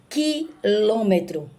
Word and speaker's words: quilômetro: Mas, quando eu digo quilômetro, não tem a pronúncia da letra U. Essa palavra é dígrafo.